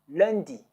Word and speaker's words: lundi: Monday is lundi.